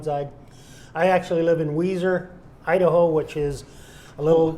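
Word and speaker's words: Weiser: spell it for him yeah w-e-i-s-e-r are spelled wiser but it's pronounced a guaranteed pronounced Weezer great uh can you let us know how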